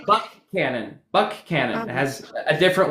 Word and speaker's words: Buchanan: Um other other counties that we have, there's like uh a county that would look like it'd be pronounced Buchanan, but it's Buck Cannon.